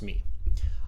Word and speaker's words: Mi: Anthony, picking just between the Mi Box, I know I called it the My Box. I've been since corrected that in China, MI is spelled me, or it's pronounced me.